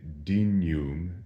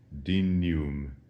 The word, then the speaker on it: dignum: a little bit, and we say it in the way that we would say in English, canyon, dignum.